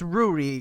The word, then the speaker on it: Ruari: Pronounced Ruri, because that's actually what the commenter said.